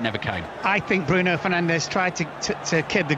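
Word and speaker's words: Fernandes: on the fifa game bruno fernandez pronounced by the commentator as bruno finance in the proper sort of portuguese style portuguese yes and if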